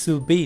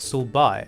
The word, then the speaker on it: 슬비: Wait, it's pronounced Sul-bi, not Sul-bai.